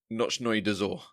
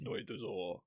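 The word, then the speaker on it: Ночной Дозор: Nochnoy Dozor. All right. Nochnoy Dozor.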